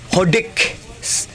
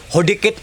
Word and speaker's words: Hodekt: Ito ang brand niya po, Hodik. Hodikit or Hodik. Sabi nila silent T daw to guys.